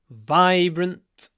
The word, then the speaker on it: vibrant: before for this un this uh voiced zon vibrant VI vibrant and then the brt brunt brunt is clipped at the end vibrant and loud what